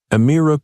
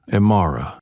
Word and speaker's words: Amira: Ironically, in their attempt to speak for her, they failed to say her name correctly. Right in the introduction, bold and prominent, Amira Cole, the federal judge whose silence shook the system. Amir, not Amara.